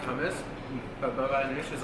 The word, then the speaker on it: baba ganoush: It's almost like a, like some tahini, but the baba ganoush or baba ganoush. It's baba ganoush, but it's like ganoush.